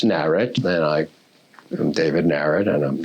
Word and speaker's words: Narrett: and he thought of the spelling Narrett like Barrett or Garrett, but I always joke, you could have been, how do you pronounce the name? It's somewhat arbitrary. It's Narrett, and I'm David Narrett, and that's fine with me.